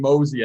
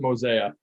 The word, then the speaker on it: Mosea: out and said like mosey makes perfect sense for what you guys are doing yeah yeah and everyone pronounces it mosaic yeah but it's still